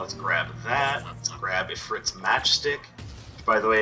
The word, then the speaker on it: Ifrit: Let's grab Ifrit's Matchstick. By the way, it is pronounced Ifrit.